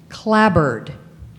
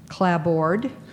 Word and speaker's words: clapboard: outside walls clad word are there any alternate pronunciations yes clapboard clap clap board C